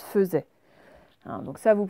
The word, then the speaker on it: faisait: Alors, attention, faisait, en fait, c'est une vraie exception en français. En fait, ça se prononce faisait.